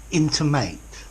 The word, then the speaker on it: intimate: intimate and intimate intimate intimated these are two different words with different and etymologies intimate with the stress at the beginning this means something that